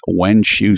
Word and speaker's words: Wenxue: Finally, I want to say hello to a site named Wenshu City. Now, it's not for English speakers. It doesn't sound the way it's spelled.